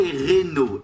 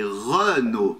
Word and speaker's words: Renault: Não é Renault, é Renault, fala.